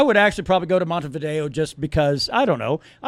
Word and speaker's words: Montevideo: It's spelled Montevideo. I'm calling it. Go fuck yourself. It's Montevideo. Respect, son.